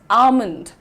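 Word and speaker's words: almond: नहीं कौन-कौन सा लेकिन आपका प्रोनाउंसिएशन में एल जो है साइलेंट है the correct pronunciation is आलमंड आलमंड हाउ डू यू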